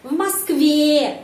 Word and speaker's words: в Москве: Tapi kalau di Moskow, di sana penekanannya pada huruf Y. В Москве, в Москве. Jadi di sana E, ya, sound E. Di Moskow, Moskve, E.